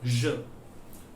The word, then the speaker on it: je: The pronunciation is je.